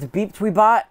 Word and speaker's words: BepTweBot: It's pronounced BepTweBot.